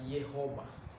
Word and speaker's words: Jehovah: Jehovah Jireh. Sa Hebrew ay Yehovah. Kaya nga pagpapakinggan mong Yehovah, parang Jehovah, di ba?